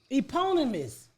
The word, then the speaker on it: eponymous: I think it's eponymous. Here, I've got AI is gonna help us. Eponymous.